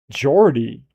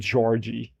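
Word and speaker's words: Geordie: Jordy. That's how you pronounce it. I I so want to pronounce it. Georgie, but it's not a G.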